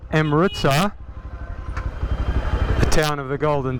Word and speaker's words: Amritsar: We are on the outskirts of Amritsar.